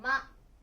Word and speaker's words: 山: Từ "山" được đọc là "yama."